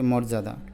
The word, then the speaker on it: মর্যাদা: পারবে এবার এটা পড়ো তো মর্যাদা নাকি মর্যাদা একটু আলতো করে বলবে জোর করে বলবে না যে তার অনেক সম্মান